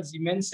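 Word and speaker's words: siemens: बोलते हैं बेटा, बट ये जर्मन वर्ड है, प्रोनाउंसिएशन जेड से इसका सीमेंस है, तो ये ज्यादा यूज होगी बेटा, हाँ ज्यादा यूज होगी।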